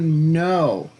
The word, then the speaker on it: know: how do you know no no actually has a k in it it's a silent k k n o w when you see k n you don't do the k you start with the n how do you know